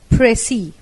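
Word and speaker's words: précis: pressy writing 32nd apressi a French word pronounced and as pressi oppressi is a summary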